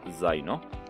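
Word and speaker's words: zaino: জেতার উচ্চারণটা অন্তস্থ জয়ের মতো, এবং জেতা দিয়ে একটি শব্দ হচ্ছে জাইনো।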